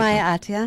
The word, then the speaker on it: Sumaya Atia: What's the correct pronunciation? Sumaya Atia. Atia. Mm-hmm.